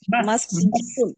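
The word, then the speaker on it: مسجد: আচ্ছা, তাহলে মসজিদের উচ্চারণটা আমরা কি বললাম? মাসজিদুন। মাসজিদুন। زين ওটা সিন জি, কেউ যদি বলে কি একটা শব্দ মাসজিদুন, আছে। এটা ভুল।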